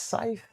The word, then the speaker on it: scythe: Scythe or sky. I think it I think it's scythe. I don't know. Scythe. Yeah. Scythe. pronounce. Yeah, it's scythe.